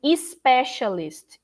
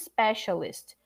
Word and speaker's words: specialist: word was the problem saying especialist is is is specialist there is no i before so social media is